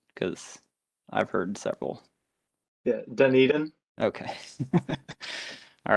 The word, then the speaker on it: Dunedin: Reeves, real quick, can you just tell me how to pronounce the name of your street? Because I've heard several. Yeah, Dunedin.